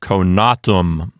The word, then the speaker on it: conatum: Since the penult contains a long vowel, then we will consider that syllable to be a long syllable. And so it will get the accent. The penult is long. A long syllable, so it gets the accent. And so this word sounds like conatum.